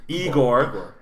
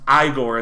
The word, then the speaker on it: Igor: is uh Marty Feldman he's eore pronounced igore in the movie it's it's it's a